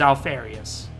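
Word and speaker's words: Alpharius: name is he will say his name is Alf aureus just like I did earlier the B has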